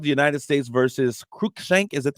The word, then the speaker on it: Cruikshank: It's called the United States versus Cruikshank. Is that how you pronounce it? Cruikshank. Cruikshank. I bet Cruikshank. Cruikshank.